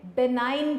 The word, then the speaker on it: benign: जी बेटे, नेक्स्ट हमारे पास टर्म जो हमने मार्क करनी है बेनाइन ट्यूमर, जी साइलेंट है यहाँ पे, बेनाइन ट्यूमर।